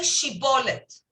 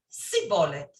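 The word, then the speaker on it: Shibboleth: Instead of sh, they would say s.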